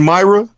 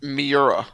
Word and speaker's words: Miura: Is it Myra? It's Miura.